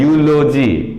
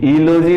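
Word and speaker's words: eulogy: तो ये यहां देखिए ई है लेकिन इसका उच्चारण जो है यू क्या हो रहा है, यूलोजी, ईलोजी नहीं पढ़ते हैं इसको, यूलोजी, यूरोपियन, य से होता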